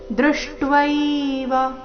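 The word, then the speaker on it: ದೃಷ್ಟ್ವೈವ: ದೌಷ್ಟ್ರ ಕರಾಲಾ ನಿಚತೆ ಮುಖಾನಿ ದೃಷ್ಟವೈವ ದೃಶ್ ಅರ್ಧ ಮೂರ್ಧನ್ಯಾಶ ದೃಷ್ಟವೈವ ಟ್ವೈವ ಶಬ್ದ ಇದೆ ದೃಷ್ಟವೈವ ಕಾಲಾನಲ ಸನ್ನಿಭಾನಿ ದೃಷ್ಟವೈವ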